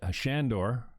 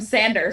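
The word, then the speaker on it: Sándor: I reached out after having Shandor, which is the proper pronunciation of his name.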